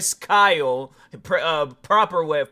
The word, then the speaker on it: Kyle: It honestly felt like that Bradley Cooper was the Chris Guile um Chris Guile Kyle proper way of pronouncing his name.